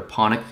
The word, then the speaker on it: Panik: My favorite player is actually Richard Panik, or Panik, I think is the correct pronunciation from his country, which I think is Slovakia.